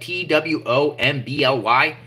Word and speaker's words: Twombly: Some people say Twombly, too. It looks like T-W-O-M-B-L-Y. I'll just say Twombly. That's how I think it's pronounced.